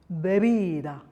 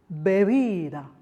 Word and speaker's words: bebida: Now if the B or the V occurs in the middle of the word as well, it's slightly gentler, it's softer. So for example, bebida, bebida, or volver, volver.